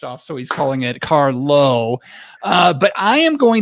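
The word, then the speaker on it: Carlow: pop culture reference the term this week is carlo is carlo a wine beer spirit or pop culture reference jeff eckles uh it's carlo carlo carlo could you could you spell that for us c-a-r-l-o-w car low car low hmm there's so much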